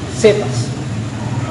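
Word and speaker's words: Cefas: versículo 42 dice en arameo se dice sepas lo importante sepas ahora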